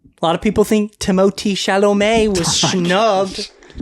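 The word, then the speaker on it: Timothée Chalamet: A lot of people think Timotei Shalom was snubbed.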